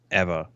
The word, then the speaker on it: Ewa: It's EWA's Eva. Whatever it is. So I'm pretty sure W's are V's.